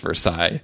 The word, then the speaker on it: Versailles: In Guyana, I'm glad you mentioned they call the Versailles still the Versailles still. So we are honoring that pronunciation. It's weird because they pronounce every word, every letter in Versailles, but then Iflot, it's got a bunch of letters that are not pronounced.